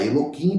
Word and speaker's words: Elohim: impronunciável e o nome Elohim né que a gente fala Eloim porque o nome Elohim